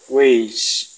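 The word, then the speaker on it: wey: Fíjense la Y al final de una palabra, no se pronuncia como una I, sino como una mezcla de I con sh, con doble L fuerte, weish, tacamal, chuchitos, tacamal, la L final se pronuncia sh.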